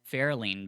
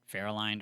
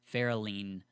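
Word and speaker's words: Ferolind: Fairlean, by the way, is how you pronounce it. I didn't know that until this episode. I heard it in the actual audiobook. Okay. Yeah, I was calling it Fairlined or something.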